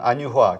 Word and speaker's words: 안유화: 아니, 발음을 매번 정확하게 못 하시더라고. 안유화. 자꾸 안휴화라고 들려요. 아, 그래요? 다시 해보세요. 혹시 귀에 이상이 있으신 건 아닌가요? 전 의심이 드는데. 안유화. 안유화 정확하게. 교수님 이렇게 얘기한 것 같은데.